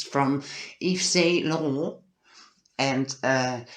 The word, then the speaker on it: Laurent: it's from Yves Saint Laurent, and you really need to pronounce it like Laurent.